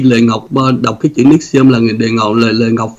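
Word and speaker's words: NXIVM: Thì khi Lệ Ngọc đọc cái chữ Nixium là Lệ Ngọc, Lệ Ngọc phát âm rất là đúng cái tên đó, tại vì tòa họ cũng phát âm như vậy.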